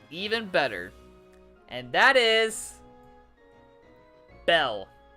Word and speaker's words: Belle: better and that is Belle one word Belle just one syllable um so yeah this